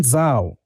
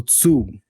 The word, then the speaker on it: Zhou: It's called the Eastern Zhou or Zhou. I just don't know how to pronounce it, but it's ZHOU, the Eastern Zhou period, right?